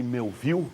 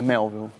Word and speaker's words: Melville: Primeiro, eu falei Melville, mas a pronúncia nos Estados Unidos correta? É Melville.